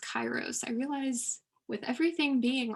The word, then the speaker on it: kairos: an excellent observation and yes you're right it is pronounced kairos i realize with everything